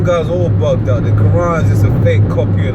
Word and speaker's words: Quran: The Quran's just a fake copy of the Bible. No, you said it. You said it wrong, brother. It's the Quran, brother.